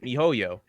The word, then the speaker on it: miHoYo: how you pronounce it yeah that's how you pronounce it mihoyo yeah they I still still gonna mess it